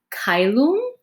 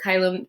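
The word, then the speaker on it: caelum: differently in the church church latin is pronounced more like italian um than classical latin which is how i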